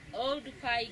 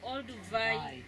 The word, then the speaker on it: Oldupai: He mispronounced and he mispublished the name. Instead of writing Oldupai Gorge, he wrote Olduvai Gorge.